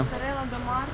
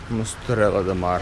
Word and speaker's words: Esterella Do Mar: Ты помнишь, как она читается правильно? Эстерелла де Мар. Мустерелла де Мар.